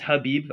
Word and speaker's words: Habib: I know his name is Habib. I just like saying Khabib. It's more fun that way. So come at me for mispronouncing his name, which I think he's probably used to at this point.